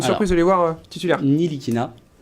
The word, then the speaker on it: Ntilikina: Nilikina Nilikina, on prononce pas le T.